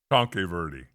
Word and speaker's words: Tanque Verde: John's plays on the other side, and Tanque Verde. Am I saying that right? No. Tonke Verde. Tonke? There's an A in there. Tanque. No. I think it might be pronounced Tank Verde.